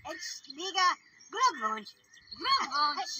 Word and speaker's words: Glückwunsch: Glückwunsch. You go up on the Gluck.